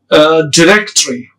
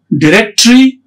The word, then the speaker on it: directory: To find a phone number or an address in a directory, this word has two pronunciations. It's both directory or it's directory. It's both. It's having two pronunciations.